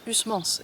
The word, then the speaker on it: Huysmans: Et donc, ce qu'il faut savoir sur Huysmans, déjà, c'est que on prononce ça Huysmans, et pas Huysman, Huysman, comme je disais avant.